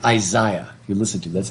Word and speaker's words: Isaiah: british pronounce the name isaiah they say isaiah if you listen to that's how the british pronounce it today too isaiah but i